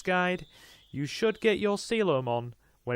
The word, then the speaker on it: Coelamon: And yes, I do believe this guy is pronounced as Coelamon. I always used to think it was Coelamon, and then I heard a Digimon YouTuber that I watch, known as Picasbury, pronounce it, and yeah, Coelamon. I believe that is the correct way.